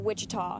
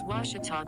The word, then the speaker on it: Ouachita: cheetah back in texas everybody pronounces it wichita but really it's ouachita washington how would you pronounce it it's washita baptist university get it right it's watertall people let's